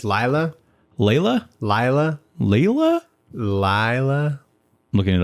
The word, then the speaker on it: Laila: expect that video of how to pronounce Layla it is Layla to be 53 seconds